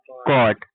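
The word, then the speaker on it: caught: सी ए यू जी एस टी कॉट। यहां पे भी जी एच साइलेंट है। यह याद रखना। जब भी किसी वर्ड्स में जी एच टी आएगा उसमें जी एच क्या होता है? साइलेंट होता है।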